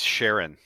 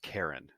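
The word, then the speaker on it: Charon: that's the Fairman right Chiron or chyon it's Sharon actually Sharon yeah c h a r o n a okay yeah and I'm pretty sure or no I'm sorry it's pronounced Karen Karen okay yeah Karen um the Karens and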